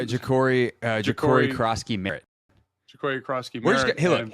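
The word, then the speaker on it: Ja'Cory Croskey-Merritt: Ja'Cory Krosky Merritt.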